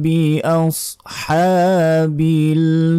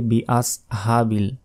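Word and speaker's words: بِأَصْحَابِ: অনেকে বলি বিআসহাবিল, এটা ভুল। বিআস আস হ্যাঁ, বড় হ্যাঁ, এটা উচ্চারণ করতে হবে, বড় হার।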